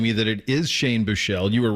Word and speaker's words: Buechele: The second E is silent.